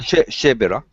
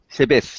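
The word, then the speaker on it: Chávez: Chevera. How do you pronounce? Chavez.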